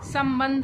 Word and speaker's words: संबंध: आगे अब हम एक और शब्द देखते हैं संबंध आपको यहां पर तो दो दिन दिया है